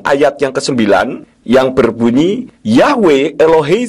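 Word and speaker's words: Yahweh: ha akhir Tidak kedengaran jadi Yod he wau he itu jika dibaca bunyinya yahwe dengan huruf he di belakang tidak kedengaran semua huruf Ibrani memang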